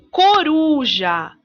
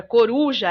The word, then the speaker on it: coruja: penúltima sílaba tônica então veja coruja a sílaba mais forte da palavra coruja é ur ur não no nosso posicionamento